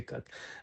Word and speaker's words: Ekat: Am I pronouncing it correctly? Yeah, yeah, it's Ikat.